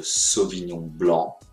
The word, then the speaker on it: sauvignon blanc: pinot gris le pinot gris le sauvignon le sauvignon blanc le sauvignon blanc et le 6 rapp le sirha voilà pour